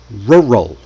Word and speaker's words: rural: This one gets people tied in knots even though it's a short one. Rural. Rroll. Worst word ever.